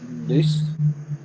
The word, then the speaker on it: loose: It's spelled the same, except it's got an N on the front. It's the same word, same root. Loose or noose, same word.